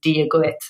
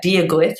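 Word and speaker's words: dia duit: But the few words that kind of make a difference when you travel, being able to say hello in Irish is dia guit, and the actual translation of that is God be with you.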